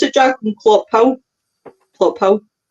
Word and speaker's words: Clophill: Is that how you pronounce it, Jack? In Clophill?